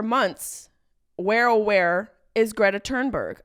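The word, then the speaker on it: Thunberg: where aw is Greta turnberg I think that's how you say it my instinct is to say thurnberg but that feels very wrong you know when you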